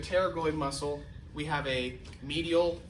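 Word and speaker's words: pterygoid: So, it's spelled weird, but it's spelled P T E R Y G O I D. So, we have a terragoid muscle.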